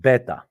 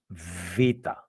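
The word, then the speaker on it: βήτα: It's not beta. It is vita. The voice is v, and it is one of the letters that has to do with your lips.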